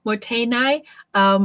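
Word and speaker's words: mottainai: How do I pronounce that again? Motainai is the respect for resources.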